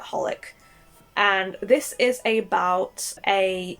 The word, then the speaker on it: HOLiC: It's spelt very weirdly. It's kind of spelt as like XXX Holic, but you just call it Holic.